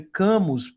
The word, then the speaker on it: Camus: Se escreve Camus, mas ele é argelino, né? Então, essa origem francesa na Argélia, né? Albert Camus, né?